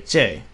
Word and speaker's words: 这: teacher teaches you, but I think it's a lot easier just to say 这, which is pronounced exactly like the English letter, the letter J.